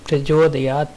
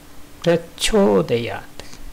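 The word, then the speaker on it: प्रचोदयात्: பலரும் இதை பிரஜோதயாத் பிரஜோதயாத் சொல்லி சொல்லியே பழகி விட்டாங்க. பிரச்சோதயாத், சரியா? இங்கே ஜோதான் இருக்கணும், ஜோ இல்லை. அதே மாதிரி பிரச்சோதயாத்து அப்படின்னு முடிக்கணும்.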